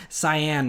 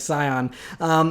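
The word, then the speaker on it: Sián: and it's the Scion I think is cyan maybe it's how you pronounce it says it's not like Scion but so anyway this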